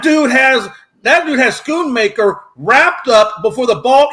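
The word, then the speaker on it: Schoonmaker: key2 was when uh skoon I can never say that guy's name right I hope I get this name right skoon M scoon maker schoon maker I think is how you say his last name uh when he got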